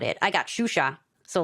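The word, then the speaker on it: Xuxa: in Miami of course shusha like this she was a Brazilian like kids Entertainer like it's spelled X you anyway completely aside the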